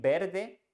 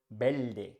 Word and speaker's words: verde: Verdi which means green instead of saying Verde you can hear the word belde belde we grammatically write them Verde but you can't find that in some region they pronounce belt now let's talk about